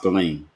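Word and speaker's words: Ghislaine: If they shut down Maxwell, Cresbow Realy Galain Maxwell, but her first name is spelled, she's French, so her name is spelled a little bit different than what it sounds like.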